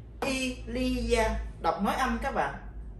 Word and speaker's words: il y a: Thì tiếng Pháp chúng ta sẽ đọc là Elia, đọc nói âm các bạn, chữ in, chữ y và chữ a, chúng ta sẽ đọc là Elia, có nghĩa là có.